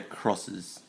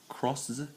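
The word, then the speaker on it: Cross-Z: Kamen Rider crosses. Crosses? It's spelled C-R-O-S-Z, so it's supposed to be crosses. Or crosses. But I'll say cross. Cross. Sounds better.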